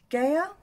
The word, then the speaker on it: Gaia: And then to deepen up, I'm going in with Gaia.